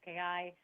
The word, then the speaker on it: Kozlowski: It's Kozlowski. It's Kozlowski. funny. A lot of people are, they get scared, and I would say it's spelled exactly as it sounds exactly as it's spelled. Kozlowski.